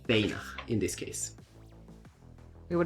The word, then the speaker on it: Fana: name is Banner in Swedish but it's pronounced feyna in this case we were the same thing